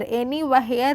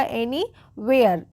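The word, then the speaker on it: anywhere: एनी वेयर एनी वेयर एनी हेयर नहीं क्या होगा एनी वेयर एच जो है वो साइलेंट होती है डब्लू एच वाले वर्ड्स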